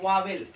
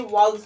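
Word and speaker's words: vowels: अब देखिए जो होता है यहाँ पर वावेल, इसे वावेल लोग पढ़ते हैं लेकिन इसे वाउल्स पढ़ा जाता है। इसका करेक्ट प्रोनाउंसिएशन है वाउल्स, वाउल्स।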